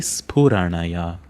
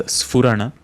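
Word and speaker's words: स्फुरण: The next long compound word is Timira Paripanthi Sphuranaya. Make sure that you are not pronouncing it as Sphurana. There is no fa as an individual letter in Sanskrit language. It is Sphurana.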